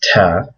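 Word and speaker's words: ت: The next letter is Ta. It has the same shape. You can see it's the exact same shape, but it has 2 dots above it. And that makes the equivalent of an English T sound. Nothing fancy.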